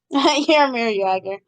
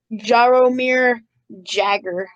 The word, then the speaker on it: Jaromir Jagr: Well, if you read it, it would look like Jaromir Jagr. But it's pronounced Jaromir Jagr.